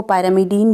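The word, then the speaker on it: pyrimidine: और एक होता है पिरिमिडीन। कहीं कहीं पर इसको पायरामिडीन भी बोलते हैं, अलग अलग प्रोनाउंसिएशन है इसकी, मैं इसे पिरिमिडीन बोलूँगी।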